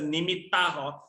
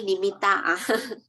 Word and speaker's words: nimitta: Sorry, pronounced as the nimitta. Sorry, nimitta.